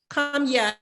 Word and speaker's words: come ya: I think the pronunciation in the language is come ya and from ya.